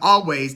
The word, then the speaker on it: Alvvays: we get deeper into always the album always the band is spelled with two v's instead of a w because there was another